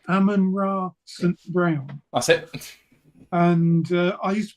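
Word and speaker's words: Amon-Ra St. Brown: um Ammon I can never say his name Ammon ra St Brown that's it and I used to be a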